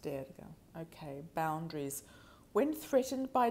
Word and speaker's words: Durga: Durga. Okay. Derga is pronounced Derga.